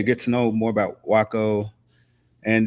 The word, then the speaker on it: Waco: to know more about Waco and did I say that Waco or Waco how should you Waco yeah she said it right awesome awesome awesome I